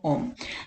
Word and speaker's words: ohm: itu hambatan kawat satuannya Oh itu simbol seperti itu bacanya Om ya kemudian kru itu